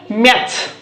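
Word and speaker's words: match: एच रोइला तो मु कहितली टी टा को साइलेंट रखिबा टी टा को मैच ओके किंतु टी रहिबो किंतु पढ़ा जीवनी मैट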